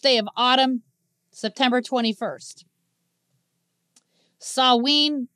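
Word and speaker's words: Samhain: of autumn September 21st saween even though it's spelled with an M it's pronounced Sween um Halloween the Catholic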